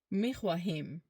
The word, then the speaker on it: میخواهیم: ما میخواهیم. ما میخواهیم. Ends with an M.